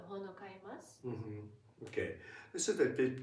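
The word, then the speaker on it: 本を買います: Hon o kaimasu. Hon o kaimasu. Please try and write in the comments below. Hon o kaimasu. It should never be pronounced like hono kaimasu.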